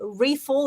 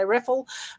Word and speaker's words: Riefel: Riefel is how you say it in America. In Australia, we'd probably say Reffel.